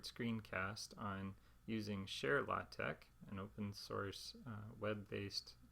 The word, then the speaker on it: TeX: tau epsilon and Chi so you would pronounce this tech rather than text like a tex-mex food or something like that it's a name of